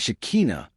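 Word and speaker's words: Shekhinah: In Jewish mysticism, especially when we study the text of the Old Testament, the feminine of God has a name pronounced in Hebrew as Shikina, the divine presence that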